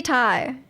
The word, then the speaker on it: Ti: I heard that according to Nvidia, you're supposed to pronounce a TI like the word Tai cuz it's short for titanium. Does anyone do that though? 5070 Tai.